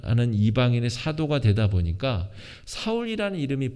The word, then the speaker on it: 사울: 이름입니다 철수 0 이처럼 똑같은 이름이 히브리 식으로는 4월 이라고 발음을 하고요 헬라어로 는 그 같은 단어를 바울 이라고 발음하는 겁니다 같은 사람인 것이죠